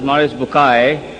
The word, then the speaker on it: Maurice Bucaille: Maurice Bucaille, pronounced as Maurice Bucaille.